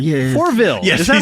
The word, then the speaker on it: Fourvel: yeah, it's Fourvel. Yeah. Fourville. Yes, Is that how you pronounce he's it?